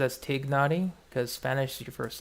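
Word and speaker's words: Tighnari: You immediately started pronouncing it as Tignari because Spanish is your first language.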